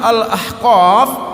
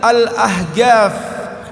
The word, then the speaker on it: Al-Ahqaf: Kampus kami namanya Al-Ahqaf, orang bilang Al-Ahgaf karena ko-nya jadi go.